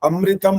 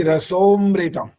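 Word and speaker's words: रसोऽमृतम्: और जो आपने बोला ना ओम आपो ज्योति रसो अमृतम बोला, अमृतम नहीं बोल सकते यहाँ, ठीक ठीक ठीक, मृतम ज्योति रसोमृतम ऐसा बोलना।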